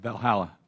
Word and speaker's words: Valhalla: at uh Valhalla how do you say that Valhalla Valhalla Valhalla land of the Gods okay Dr